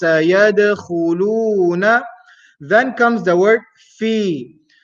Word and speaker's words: في: Then comes the word fi. Fa is pronounced using the lips, as we mentioned, and then ya sakin, which is a mad letter for 2 harakat long.